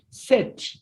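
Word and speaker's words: sept: This one is written seputi, but it is pronounced set. This P, it is voiceless. This P is not heard in pronunciation.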